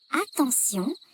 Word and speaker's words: attention: Dans le mot attention, T se prononce S.